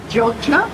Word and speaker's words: Jogja: It's spelled Yogyakarta, and I think it's the second biggest city after Jakarta in Indonesia, but the locals call it Jogja. So Right. it's J's instead of Y's, even though it's spelled with Y's. Jogja.